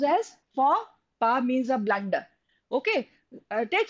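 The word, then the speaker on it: faux pas: hotp okay then this is for this is pronounced as for PA means a blund okay take for example a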